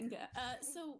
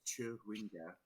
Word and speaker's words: Chwinga: Alec, it is pronounced Chewinga.